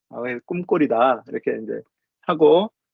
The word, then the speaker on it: ccumgol: 미국 사람들한테 CCUMGOL 그럼 꿈꼴이라고 안 읽죠. 저는 이거를 꿈꼴이라고 그냥 우겨요. C는 K다. K 발음을 낸다. 꿈꼴이다.